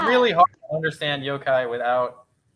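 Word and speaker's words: yōkai: that's cool um I'm obsessed with the the yo-kai am I pronouncing that right yeah you are my favorite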